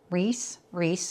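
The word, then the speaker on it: Rhys: And hockey players Rees, I think that's how, but it's spelled R-H-Y-S, and Sadie.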